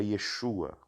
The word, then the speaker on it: Yeshua: A então por exemplo Jesus em hebraico a Yeshua e muitos da Galileia pronunciavam Exu né seria uma influência do aramaico então pra zombarem deles